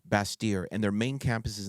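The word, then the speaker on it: Bastyr: b t yr correct it's a French pronunciation yeah basier and their main campus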